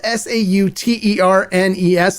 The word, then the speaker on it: Sauternes: Now, for this special edition, they aged the tequila in French Sauterne barrels. Now, it's pronounced different than it looks. It's spelled Sauternes.